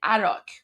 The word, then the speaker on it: Arak: They hit the Azara plant in Arak, which is spelled A-R-A-K. So A-R-A-K. Arak. That's what he's saying. It's Arak.